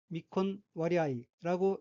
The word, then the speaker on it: 未婚割合: 셋째 줄의 왼편 어휘는 한자가 한국어로 미혼할합이며 각기 안일미, 혼인할 혼, 벨할, 합할 합자로 되어 있고 일본어로는 미콘와리아이라고 읽으며 미콘와리아이는 미혼이란 뜻의 미콘에 비율이란 뜻의 와리아이가 붙은 어귀로 미콘와리아이는 미혼 비율이란 의미입니다.